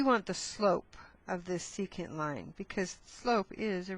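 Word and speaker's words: secant: If it were straight, we would call this a seeant line. Okay? And we spell that s e c a n t, right?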